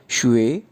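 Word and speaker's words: 学: तो प्रोनाउंस किस तरह से करेंगे? शुए शुए शुए।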